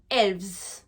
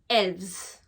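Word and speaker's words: elves: pluriel tout hels d'accord le F se transforme en V au pluriel et ce n'est pas exceptionnel pour ce mot là c'est pour tous les mots qui se terminent au singulier par un neuf matériel du coup se transforme en V donc on retient bien N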